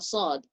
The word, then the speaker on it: ص: It's a whistling sound, but not quite a tha. You don't make it into a tha. It's a sad.